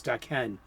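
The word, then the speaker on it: Daken: actually his uh his evil son uh uh dakin dakhen i actually asked marjorie liu how do i pronounce his name it's da ken so if you want to know how to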